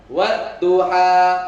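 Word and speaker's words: وَالضُّحَى: Jadi kalau asli tanpa tanwin, ya, dia dibaca berapa? 2 harokat.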